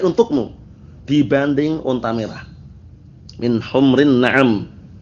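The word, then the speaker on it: حمر: Min humrin na'am. Bukan humur tapi humr. Karena humrun itu jamak dari ahmar hamra. Tapi kalau humur itu jamak dari himar. Jadi jangan sampai keliru membacanya.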